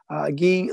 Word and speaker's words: Gui: gee laramie it's gui it's guy but pronounced ghee because he's french-canadian gee laramie and he actually